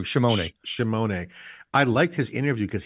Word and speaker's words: Scimone: One of the things that you interviewed John Scimone, I think that's how you pronounce John Scimone. Shimone. I had it wrong too. Shimone.